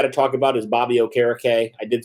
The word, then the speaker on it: Okereke: Another guy we got to talk about is Bobby Okereke. I did say it right this time. I know I messed it up on the live stream, but Okereke, man, I mean, it was interesting.